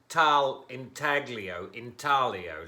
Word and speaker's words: Intaglio: This is Mikasa Intaglio line, depending on whether you want a hard G or you want your G to roll into your L.